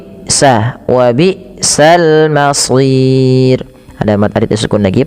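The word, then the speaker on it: وبئس: Hamzah dimatikan tidak boleh nyeret. Wabisal masir.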